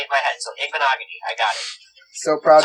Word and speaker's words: Igbinoghene: Ryan, before I start talking about him, I'd like to hear you pronounce his last name for me. Oh, gosh. I don't know. Igbinoghene. He literally just said it. It's not that hard. Igbinoghene, right?